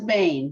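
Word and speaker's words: בן: is Bain because it has the Bain, yud in it.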